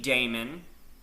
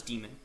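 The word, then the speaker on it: daemon: In our next session, we're going to go over boot sequence, the systemd Damon or demon, sorry, the systemd demon, that's pronounced as demon, the system ctl command,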